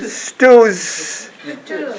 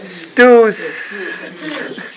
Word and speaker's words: stews: So no vocal vibrating. No vocal cord. 예. No vocal cord in 진동 여기 하지 않아야 된대. 그냥 입에서만. it's like what Peter said. 유성음이 아니라 무성음.